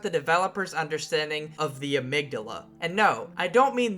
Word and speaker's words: amygdala: of your brain and when I say amidala with the soft G I'm talking about the boss of the game so keep that in